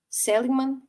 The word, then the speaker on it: Seligman: Seligman, assim que se pronuncia, quero pronunciar corretamente.